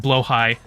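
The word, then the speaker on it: Blåhaj: You've got your blahage. I know it's pronounced blowhigh, but I prefer the blahage.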